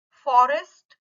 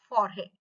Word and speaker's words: forêt: Forest will be pronounced as forêt. Fine. So it gives you a little slight sound change. Hence the pronunciation will be forêt. So you can consider the chapeau upon ESS. Okay. But the pronunciation will not be forest, but we will just take A of S. Okay. Forêt. So it indicates a sound change or a missing letter. Fine. Further, we have exocedal.